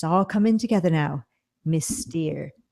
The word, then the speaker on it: Steere: For those who haven't picked up on this yet, Patricia signs her emails Miss Steere, but since her last name is not spelled Steer, it is Steere. Phonetically, it kind of comes out as Mystery.